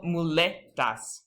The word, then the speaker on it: muletas: And also muletas, crutches. That E is the spoken accent.